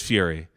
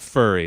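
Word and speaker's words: Furie: It is Fury. Yeah, Matt Fury. It's not furry.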